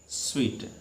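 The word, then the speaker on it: suite: लेकिन इसको ध्यान से समझो, प्रोनाउंसिएशन निकालेंगे तो क्या निकालेंगे, स्वीट।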